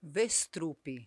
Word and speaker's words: Westrup: Sim, e é com W. W com som de V.